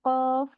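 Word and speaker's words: قاف: Mungkin seperti huruf kaf dan qaf. Nah, itu mereka beda tempat keluar huruf. Jadi penyebutannya pun beda. Kalau kita salah menyebutkan, mungkin terbalik, kita harusnya menyebutkan kaf, tapi kita bacanya seperti qaf. Nah, itu akan merubah arti dari ayat yang disampaikan.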